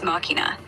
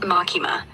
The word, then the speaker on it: machina: Machina. Like machina. Latin root, clean and crisp. Machina. Not machima. That's just sloppy.